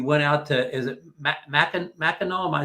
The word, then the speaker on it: Mackinac: You said you went out to, is it Mackinac? Am I saying it correctly? Mackinac, yes.